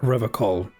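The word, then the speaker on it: Revachol: strong forever call can he says it like River coal what is River shawl if I feel better about my pronunciations now intoxicants yeah I guess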